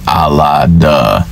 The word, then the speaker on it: Allah: you need is l and a to say Allah you don't need a h h is silent in most uh time most times when